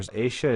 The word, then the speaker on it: ella: The double L is a sh. So, ella está en la calle.